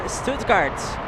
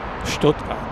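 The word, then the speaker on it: Stuttgart: This is the last one heading to Stoutgart. Stoodkart. Stoodkart. I'm sorry.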